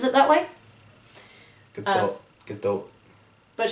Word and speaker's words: Gadot: Gadot. But she says it with a prominent T.